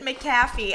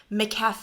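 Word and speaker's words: McCafé: how to pronounce this in my last Vlog I pronounce it McAfee I have no idea why I have never I guess I just haven't gone to McDonald's in like I don't know a decade McCafe and this is Colombian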